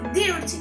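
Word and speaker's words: thirty: Dirty quiere decir 30 y se pronuncia de la siguiente manera. Dirty. Dirty. Como podemos observar aquí, la pronunciación al final es más corta.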